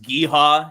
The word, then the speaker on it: Geha: It's also Geha. It's pronounced Gueha if you're local.